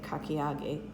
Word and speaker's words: kakiage: fine matchsticks of zucchini for our kakiyage tempura that's how they say it kakiyagi tempura that's the dumpling style and